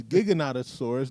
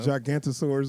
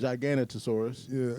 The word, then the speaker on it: Giganotosaurus: of that one super big dinosaur is actually pronounced. So now we know that it's Giganotosaurus, not whatever the fuck I said last time. Gigantosaurus or some shit. Giganotosaurus.